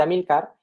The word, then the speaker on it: Amílcar: Y luego, bueno, tenía aquí anotado que, para el que quiera saberlo, Amílcar y Belisario, se ve que él escribe inicialmente Amílcar, está bien pronunciado Amílcar, ¿no?